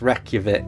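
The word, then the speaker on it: Reykjavík: um I can always edit it out it's pronounced Reykjavik ah sorry yeah oh my God so what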